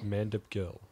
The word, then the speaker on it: Mandip Gill: Mandip Gill. And I'm not shitting you. That's how you pronounce his name.